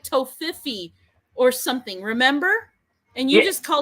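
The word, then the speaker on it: Toffifee: It's like tofifi or something. Remember? And you Yeah, just called it I coffee. I call it top, but I think the proper name is Toffee Fay.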